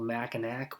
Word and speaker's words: Mackinac: on a map and it looks like it's spelled Mackinac, well, it's actually pronounced Mackinac. So if you're calling it Mackinac, then you can just frig off, burb.